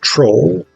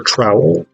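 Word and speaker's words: Trowle: We then get this character named Troll or Trowel or Trollane, t r o w l e. Uh I'm going to call him Troll because I think that's the most delightful pronunciation of what what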